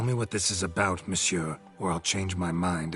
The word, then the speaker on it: monsieur: sir or better yet the emphasis falls on the last syllable see now i'd rather emphasize something else tell me what this is about monsieur or i'll change my